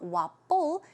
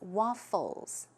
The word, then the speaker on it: waffles: p woput right but keep in mind it's an F so it's not wobble its waffles waffles okay and then moving